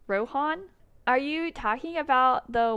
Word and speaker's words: Rohan: No, it's like Han. Okay. And okay, I see. I'm probably one of those people who's like Rohan, but it's Han. So is Rohan? Is that correct? Rohan?